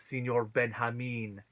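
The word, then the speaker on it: Señor Benjamin: So the audience loves Senor Benjamin. And in case anyone's wondering why I'm pronouncing it that way and they don't know, that's how you say it in Spanish.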